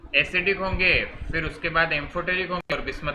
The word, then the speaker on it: amphoteric: तो मेटालॉइड्स के जो ऑक्साइड्स होते हैं वो आपके एम्फोटेरिक, एम्फो स्पेलिंग में मिस्टेक कर देना, एम्फोटेरिक, थेरिक नहीं, वो एच कहाँ था।